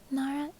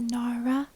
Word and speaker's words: Nara: there's an R because in English we pronounce a Nara Nara with the English R but in Japanese it's not wrong it's not not so I don't know how